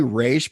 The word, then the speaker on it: Ra's: Well, I'm saying Ra's because that's how they say it in the movie. I say Raish because that's how Dan Didio and Denny O'Neil, the guys who created the character.